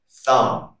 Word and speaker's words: thumb: Rule number one, the letter B is not pronounced after the letter M at the end of a word. For example, bomb, tune, comb, thumb, climb, lamb.